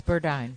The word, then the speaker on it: Burdine: So how do you say it? It's Burdine.